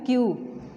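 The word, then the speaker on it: queue: ठीक है, क्यू mean line, word is क्यू, इसकी प्रोनाउंसिएशन स्पेलिंग इसमें सारे आ रहे हैं क्यू यू ई, ठीक है, लेकिन इसका पूरी जो प्रोनाउंसिएशन है पूरे वर्ड की वो है क्यू, जैसे एक अल्फ़ाबेट हम क्यू बोलते हैं, ठीक है, same like this, word is क्यू, क्यू mean कितार या लाइन।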